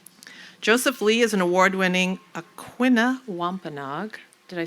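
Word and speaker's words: Aquinnah Wampanoag: Joseph Lee is an award-winning Aquina Wampenog, did I say it right?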